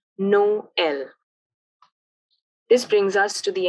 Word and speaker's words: Noël: Both O and E, or O and as we call it in French, have a separate pronunciation, Noël.